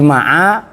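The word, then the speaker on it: مع: Lafat ma'a tadi bacanya bi fathil aini, dengan dibaca fathah ainnya. Wa sukuniha, dan sukunnya ain. Wal fathu, dan bermula membaca fathahnya ain. Afsahu, itu lebih fasih.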